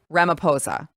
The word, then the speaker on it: Ramaphosa: with the South African president, how do you pronounce his name? Cyril Ramaphosa. Ramaphosa.